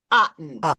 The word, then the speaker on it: Otten: No, Otten. I always say it wrong, you guys. She has this analogy, and we're going to change it. It's Susan Otten. There we go.